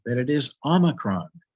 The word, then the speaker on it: omicron: say that it is omicron not omicron omicron is the name for the short o in greek we have another letter